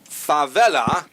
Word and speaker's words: Favela: With me, Connie Magana, Sandra Favela, accent on the second syllable. I got it right the third time there.